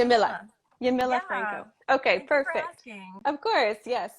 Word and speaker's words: Yamila Franco: it the first time you can say that yamila franco okay perfect of course yes no not a